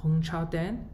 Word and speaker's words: Hongchao Deng: My name is pronounced as Hongchao Deng.